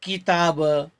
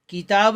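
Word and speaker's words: क़िताब: जैसे किताब, किताब नहीं बल्कि किताब, करीब, कसूर, कहर, कौम।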